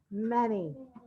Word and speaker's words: many: right miss bird but it's actually an a sound and our y is making our e sound right here we go one more time m a and y many m a and y